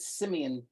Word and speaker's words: Simeon: Yeah, so you connected me with I actually didn't know that you pronounced it Simeon. I thought it was a version of Simon, but Simon's the executive